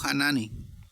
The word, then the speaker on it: Hanani: tuvo un encuentro con un tal Anani, o Hanani, como se pronuncia.